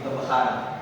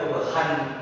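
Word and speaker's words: ضَبْحًا: Kalau baca normal atau kasarnya kalau belum paham masalah mat atau tajwid, pasti bacanya wal adiyati tabakhan. Nah, itu salah. Yang benar adalah menjadi tabakha. Karena apa? Sejelasan dibaca panjang sebagai pengganti dari fathaten.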